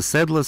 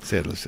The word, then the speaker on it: Sadless: Правильно произносится Sadless с английским произношением. Sadless это.